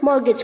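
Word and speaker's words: mortgage: मॉर्गेज स मॉर्गेज इंग ध्यान रखना है बच्चों मॉर्गेज में टी साइलेंट है ओके एंड जी ए जी ई को हम जी ए जे की तरह प्रोनाउंस करेंगे मॉर्गेज ठीक है मीडिएट इज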